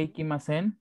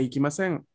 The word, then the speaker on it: 行きません: Ah, el tono descendiente abarca más al verbo. El verbo en este caso es ikimasen, ¿no? Entonces el tono que va bajando va a estar allí en esta parte.